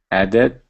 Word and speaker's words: added: applied excellent thank you so does everyone see the difference between something like liked where we pronounce the ED more like a tea and something like added where we add a whole extra syllable we have added added and liked so for the first one just one syllable and the second one is two syllables does everyone see and